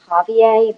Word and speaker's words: Javier: here all right so um the way you pronounce this is Javier but it wouldn't matter what you said how